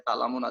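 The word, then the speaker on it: تعلمون: Di sini misalkan pada kata ta'lamuna, ini kan harusnya dibaca ta'lamuna, tetapi karena mau diakhirkan di ayat, maka nunnya tidak berbunyi lagi. Bunyinya seperti ta'malun. Ya, ta'malun.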